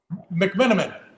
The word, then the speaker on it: McMenamin: Mcmenamin.